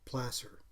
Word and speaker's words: placer: also discovered through google in the context of mining is like gasser placer a placer mine is